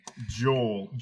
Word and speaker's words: Gaol: It's the old Melbourne jail, but it's spelled like Gaol. Gaol. That's jail. the old. It's like a thing. Joel.